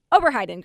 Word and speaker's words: Oberheiden: your last name right let's get it right over hide in group let's all practice together yes / hidin so the